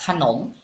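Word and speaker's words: ขนม: bacanya knm seperti itu maka secara otomatis setelah konsonan pertama ditambah dengan bunyi a mana konsonan pertama yaitu kokai maka bacanya k k kemudian konsonan kedua yaitulah nonu secara otomatis ditambah dengan bunyi O jadi bacanya Nom jadi kalau kita gabung bacanya jadi kata kanom kanom seperti itu Jadi kalau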